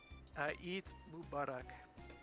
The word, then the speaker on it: Eid Mubarak: How pronounce? Eid Mubarak. Eid Mubarak.